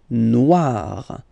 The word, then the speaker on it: noir: Here, O and E, when you combine these two letters, you get the sound wa wa wa, okay, noir, noir, noir, all right, oh,